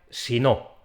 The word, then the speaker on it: si no: sí no pues bien la secuencia en dos palabras se pronuncia sí no en cambio la hermana